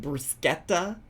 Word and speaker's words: bruschetta: CH is a K sound in Italian. So is it bruschetta?